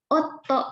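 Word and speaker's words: 夫: Nah, suami dibacanya otto, double ya minasang, otto.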